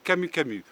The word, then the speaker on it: camu camu: En France, on l'appelle le Camu Camu. En effet, le U au Brésil, on le prononce OU.